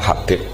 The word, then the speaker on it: Habib: Itu di harakatnya kitab itu ada yang nulis Hubab. Tapi yang benar Oh, nggih. Yang benar itu bacanya Habib.